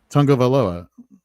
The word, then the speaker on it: Tagovailoa: Do we know how it's correctly pronounced? Tagovailoa.